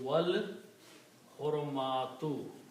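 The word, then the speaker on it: والحرمات: And when you pronounce with the wow you do not pronounce alif in between so it will be wal haramatu.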